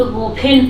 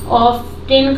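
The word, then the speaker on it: often: ही मतलब वे would not, would ऑफन पुट, ऑफ्टन का मतलब होता है यहाँ पे ऑफ्टन नहीं होता, उसको पढ़ते हैं ऑफन, ये साइलेंट अरेंजमेंट।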